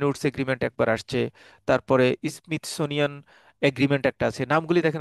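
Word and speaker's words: Smithsonian: একটা হচ্ছে gold standard, একটা হচ্ছে বেটেন উডস এগ্রিমেন্ট, আর একটা হচ্ছে স্মিথ সোনিয়ান, প্রোনাউন্সিয়েশন হচ্ছে স্মিথ সোনিয়ান এগ্রিমেন্ট।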